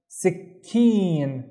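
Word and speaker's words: سكين: The first syllable I see a C in here, but I also need to pronounce the K, right? So it will be sick, sick, and then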